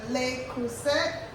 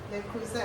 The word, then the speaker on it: Le Creuset: It's the Le Creuset. Le Creuset. I think the T is silent.